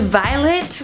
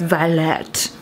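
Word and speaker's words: violette: It's not just violet, okay? It's violet. Get it correct.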